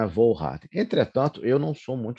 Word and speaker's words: Volhard: questão da pronúncia correta, então é Wohlrat e não Wohlrat, mas para mim não tem problema.